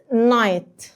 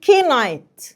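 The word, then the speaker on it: knight: الاول بالكلمات عندنا كلمه نايت طبعا في طلبه منكم هتقولها كي نايت صح اجي بقى انا اروح معلماك ان اي كي ان في الانجلش اي كي ان في الانجلش الكي لا تنطق صح اثبت لك انت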